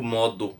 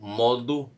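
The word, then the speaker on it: Modu: Mas dizem que o Modo, que se escreve aí com M, com U no final, né? M-O-D-U, ele teria mandado eliminar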